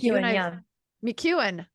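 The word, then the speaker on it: McKeown: McEwen. I've Yeah, said his yeah. name wrong for like 10 years.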